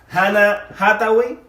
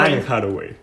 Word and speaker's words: Anne Hathaway: También tenemos a las que vendrían siendo las esposas de estos muchachos enamorados, que vendrían siendo Hannah Hathaway, su personaje se llama Lauren. Anne Hathaway. Así, ¿cómo se pronuncia?